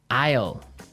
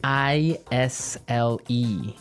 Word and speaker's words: isle: spelled so strangely right we don't pronounce the S the S is silent that's true ale so